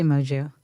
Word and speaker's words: Moju: You made my name sound very foreign. French? I mean, yeah, I think technically it's Portuguese. Moju. I don't know how they say it. How do you say it? I say Moju.